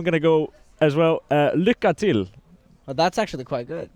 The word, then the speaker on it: Lycka till: Lycka till. Well, that's actually quite good. Yeah, I'm the best at pronunciation.